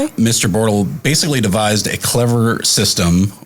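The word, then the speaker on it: Bortle: Yeah, it it's actually called the Bortal scale. And you spell that?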